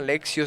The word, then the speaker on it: lectio: texto hay unos pasitos busquen la lectio divina lexio se pronuncia alexio divino claro leche divina por por